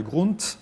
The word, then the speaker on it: Grund: Et après, le T de Grund, hein, il faut le prononcer parce que.